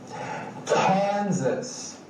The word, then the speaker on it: Kansas: right Illinois Indiana Iowa Kansas right as became Z right Kansas Kansas Kentucky Louisiana Maine Maryland